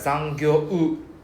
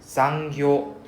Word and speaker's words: 残業: We don't need to like zangyo u. We don't need to pronounce the u so separately, right? So it's more like zangyo. So we drag out the o sound, zangyo, right?